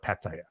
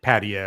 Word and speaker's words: Pattaya: you're so known as like the ambassador of Pattaya, you know. And I love it, first of all, because you say it the right way. So you don't say it like the lazy English way, like Pattaya or Pattaya.